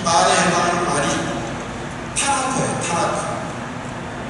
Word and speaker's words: 타나크: 자, 유다교는 성경을 일단 명칭을 붙일 때 우리가 말하는 성경 이 말에 해당하는 말이 타나크예요. 타나크. 또 히브리어는 오른쪽에서 왼쪽으로 읽어요. 그렇게 읽으면 그게 발음을 할 때 타나크가 돼요.